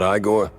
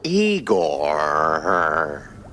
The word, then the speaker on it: Igor: I'm not Igore. No, Eigor.